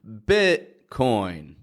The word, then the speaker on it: Bitcoin: for today starting with the pronunciation of Bitcoin stopping that t in the middle and crypto cryptocurrency or